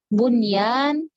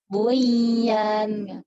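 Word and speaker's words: بنيان: Ad-dunya, bunyan, sinwan, tinwan. Makanya ada orang yang nggak tahu hukum izhar mutlak dibacanya gimana? Aduya gitu. Aduya katanya gitu. Buyan, salah karena dia nggak tahu hukum izhar mutlak.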